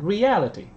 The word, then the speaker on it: reality: First in mind, mind and second reality. Second in reality, reality. Trọng âm ở trước ET đúng không? Reality.